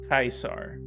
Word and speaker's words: Caesar: you would say kaiser kaisar kaiser kaisar is very close to original latin that pronunciation is preserved